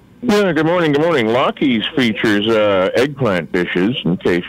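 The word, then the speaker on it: Laki's: Oh, that's how you pronounce it? Lockheed's? I guess I've been saying it wrong. So I call it Lackeys. Lackeys? Oh. Okay, it's Lockheed's. L-A-K-I.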